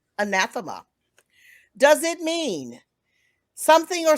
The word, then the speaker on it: anathema: your uh word okay i may be mispronouncing this but it's uh anathema okay and you are not pronouncing it very good anathema does it mean something